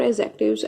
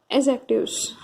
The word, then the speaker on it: adjective: In parts of speech, we have discussed about adjectives as per an introductory base. So this class will be a little bit explained form. So let's start our class. Adjectives. The pronunciation will be adjective, not adjective.